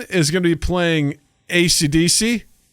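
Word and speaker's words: Esidisi: So haven't seen it myself, but Justin is going to be playing Eisidisi. It's not spelled that way, but that's apparently how it's pronounced.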